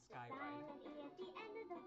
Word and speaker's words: Ride: Next up, Sky Ride. This time it's a long I. The silent E at the end of the word makes the I say I. Sky Ride.